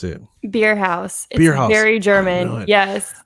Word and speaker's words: Bierhaus: name like i did amber's how do you pronounce it beer house beer house gary german yes all right so